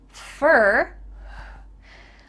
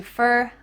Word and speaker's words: for: and bin I've been here fer why does for change to fer I don't know but